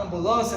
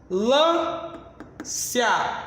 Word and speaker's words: ambulância: O M e o N no interior de uma palavra, não sendo pronunciados, mas nasalizando a vogal anterior, eu vou contar com menos 2 fonemas.